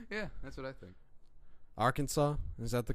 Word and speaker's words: Arkansas: Slightly better than Arkansas.